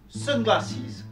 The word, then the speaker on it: sunglasses: Sunglasses, composé de deux mots, sun d'une syllabe et glasses de deux syllabes.